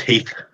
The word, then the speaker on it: Heath: It's pronounced Heath. Heath, yeah.